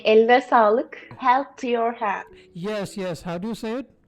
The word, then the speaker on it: eline sağlık: We say eline sağlık.